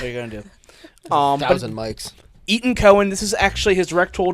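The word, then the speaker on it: Etan Cohen: director of this is Eaton Cohen that's how it's pronounced not Ethan Cohen Brothers no not one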